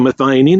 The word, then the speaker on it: methionine: acid it is called methionine all these with and an IND those are pronounced een so methionine and you'll see that